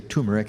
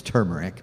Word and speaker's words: turmeric: know you sometimes peop some people say tumeric and that's just fine the real pronunciation is turmeric but it doesn't matter